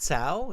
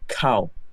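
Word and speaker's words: Cao: it Sao uh yeah if uh if um I was a Chinese that would would be great but uh now I'm a vietnames so I would like you to pronounce my name differently it would be uh cow cow okay cow the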